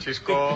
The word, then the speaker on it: Xisco: Soy Xisco. No hay que confundirlo. ¿Qué pasa, Alberto? ¿Cómo va? Aquí Xisco. Xisco. No ninguna de las otras 50 maneras de las que pronunciaste mi nombre.